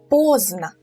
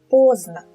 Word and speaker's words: поздно: The D sound is not really pronounced, so we say поздно, поздно.